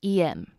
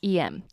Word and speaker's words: em: Now in this case, this is actually a completely different EM. And the EM in this case is actually the phonetic pronunciation of the letter M.